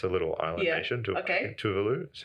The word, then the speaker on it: Tuvalu: Tuvalu, is how you say it.